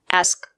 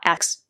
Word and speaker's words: ask: The two letters S and K make the sound, not. The word is pronounced ask, not S.